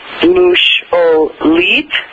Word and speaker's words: musholid: One of my favorite words is musholid. So you'd pronounce that mush-o-leet.